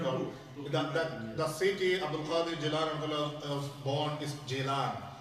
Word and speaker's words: Gilan: in the book, The city Abdul Qadir Jilani was born is Jilan. It's Jim. However, the local people they call it Gilan with Gaf G whatever is there.